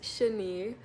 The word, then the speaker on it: Shani: It's so it's sheni like with an a but I just for social media purposes like the handle I take out the A.